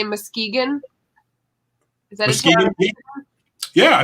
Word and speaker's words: Muskegon: Is that Muskegon?